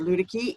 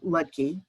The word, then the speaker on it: Luedtke: pandemics and possibility dr ludecky is uh i'm sorry i'm using the ohio pronunciation of your name dr lutkey is a preventative medicine